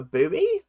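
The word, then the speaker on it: buoy: got to Bubble a boy B boy although you guys call it a booby it's a boy but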